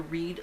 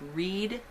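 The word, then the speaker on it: Wrede: it's by patricia i i'm assuming it's pronounced read w-r-e-d-e it's called daughter of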